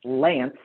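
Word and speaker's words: LAANC: there's something called lance yes that is pronounced lance according to the faa because they get to choose how to pronounce their made up words um and with lance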